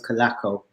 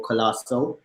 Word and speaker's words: Colaço: So it's in the UK, it's just pronounced as Colaço. That's how they like to say it, and I'm okay with that. The origin of the name is from Portugal originally, so it's Colaço or Colaço.